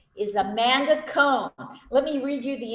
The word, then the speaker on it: Cohen: And is this the wrong time to point out that it's pronounced Cohen?